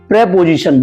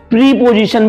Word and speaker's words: preposition: आज हम बहुत इंटरेस्टिंग टॉपिक शुरू करेंगे जिस टॉपिक का नाम है प्रेपोजिशन। बहुत सारे जने इसे प्रीपोजिशन भी पढ़ देते हैं, बट रियलिटी में से पढ़ने की राइट प्रोनाउंसिएशन है प्रेपोजिशन।